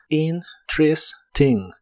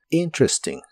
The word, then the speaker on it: interesting: interesting que significa interesante esta palabra de inglés se pronuncia en tres sílabas y solo usas sonidos y cortos interesting interesting interesting y usaremos la expresión